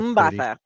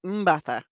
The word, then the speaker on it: Mbatha: She's It's so Mbatha. pretty. I literally listened to a video to get it right. Oh, okay. And I'm pretty sure I still got it wrong. So I mean, but it's Mbatha.